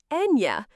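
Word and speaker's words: eñe: That is the letter ña, pronounced Enya.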